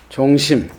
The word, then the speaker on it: 종심: 216쪽 12시가 조주 종심. 조주 종심인데 이걸 염자로 읽는 분이 있어요. 수심자로 읽어야 돼요.고 심자. 자세히 살피는 것이 그 심자라. 조주 종념이라 그러면 안 돼요. 종심이라고 읽어야 돼.